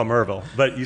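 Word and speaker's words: Maryville: So, you grew up in Mville? Yep. And just kind of like the Appalachin. You say Mville, I say Marville.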